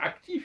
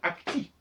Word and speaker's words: actif: et active il faut pas dire actif il faut dire AC puisque le F ne prononce pas quand il n'est pas suivi d' fondament elle est connue